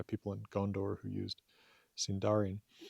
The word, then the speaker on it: Sindarin: Uh presumably names given to them by people in Gondor who used Sindarin. Or Sindarin, I suppose is probably how Tolkien intended that to be emphasized.